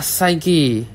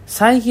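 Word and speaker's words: Psyche: Lamp হাতে মনে হচ্ছে সাইকি নিজেই চলে এসেছো সাইকি আবার কে? এইযে ইনি হচ্ছে সাইকি। সাইকি না আসলে এন উচ্চারণ হবে সাইক।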